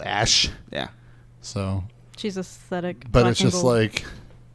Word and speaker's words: Ashe: The new character called Ashe. McCree. But like her name is spelled ASHE. Ash.